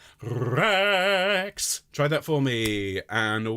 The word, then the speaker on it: Rex: It's Rex. Okay, now I need you to roll your R's. I need you to put the E of X exactly on the beat. So it's going to be 1 Rex.